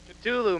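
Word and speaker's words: Ktulu: of Ride the Lightning the exact pronunciation culu man I was right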